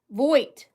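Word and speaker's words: Voigt: The G is silent. Voight.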